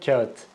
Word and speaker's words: kağıt: Say it after me. Kea it, Kea it, Kea it. Now I want you to transition to Kağıt.